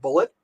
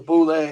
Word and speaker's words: boule: It's the way a lot of people pronounce it bullet, but it's a French word clearly, and it is pronounced, as far as I know, it is pronounced. If I can get the right one over here, let me see. Boule, there it is. Boule. Okay, people call it bullet, but if it was